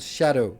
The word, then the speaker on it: Scadu: pronounced jail, but when they see Scadu Tree, they don't realize that it's the same principle. It's called shadow. It's just Old English.